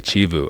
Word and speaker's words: Chivu: Chivu, she taught me how to say yeah. I'm saying it wrong. I'm saying it the anglicized way. Chivu.